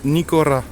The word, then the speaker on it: Nikora: Tu peux venir dans les enseignes, cette enseigne, ça se prononce Nikora.